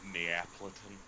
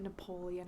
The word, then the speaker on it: Neapolitan: Neapolitan. Yeah. I wouldn't be That surprised does. if you called it Napoleon ice cream.